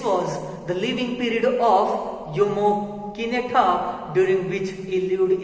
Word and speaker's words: Jomo: The pronunciation of this J-O-M-O is Jomo. Why? Because is that the letter J that becomes silent over here.